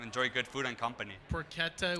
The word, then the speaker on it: porchetta: Porchetta was with a hard C. Yes, porchetta. Like bruschetta. Exactly. And It's like bruschetta, porchetta. Yes. With a K.